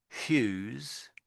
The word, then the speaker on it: Hughes: So Tom Hughes.